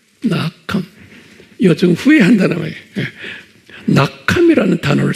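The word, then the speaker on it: נחם: 발음은 낙함이라고 써 있어요. 낙함.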